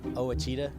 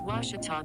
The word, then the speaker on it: Ouachita: thing that's ever happened i've heard people say oh a cheetah oh wish tall oh a cheetah is it pronounced oh akita searching for washi at a baptist university back in texas everybody pronounces it wichita but really it's ouachita washington washington how would you pronounce it it's washita baptist university get it right it's